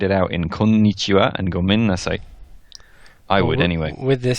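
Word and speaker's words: ごめんなさい: like that do sound it out incognita and gomen nasai I would anyway with this sorry I'm about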